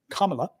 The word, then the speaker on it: Kamala: anyway um but if camela is winning C camela I can't pronounce her name Kamala if Kamala is winning